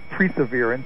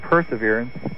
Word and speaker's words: perseverance: It's not perseverance, and it's not spelled P-R-E. The word is perseverance. It's spelled P-E-R.